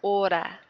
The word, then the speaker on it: hora: Remember again, the H's in Spanish are absolutely silent. We don't say them at all, so leave those out. So I'm just starting really with this letter here. Hora. Horario. If you can roll your R's, that's where you give it one little flip.